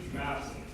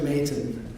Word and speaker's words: Mayton: Madison. Please step up to the mic. Thanks a lot. It's actually Mayton. Mayton Is the pronunciation.